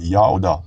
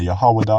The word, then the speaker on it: Yao: Ang W sa Hebrew ay long O vowel kung hindi first letter ng isang salita. Kaya ang pangalan ng Diyos ay Yao, hindi Yahawa, hindi Yawa, hindi Yahweh, hindi Yahuwa, hindi Yahu.